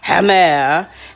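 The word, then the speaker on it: gemmer: speak this language but this word g-e-m-m-e-r is pronounced hammer and that's the ginger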